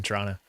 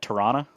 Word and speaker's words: Toronto: to get away but don't say the last t on toronto and then you blend right in local secret cool so how do you say that toronto toronto yeah yeah i